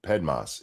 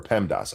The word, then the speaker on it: PEMDAS: There was a good reason to implement PEDMAS it because or PEMDAS I always say it wrong.